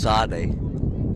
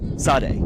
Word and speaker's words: Sade: I think his last name is pronounced Sade. Sade, yes.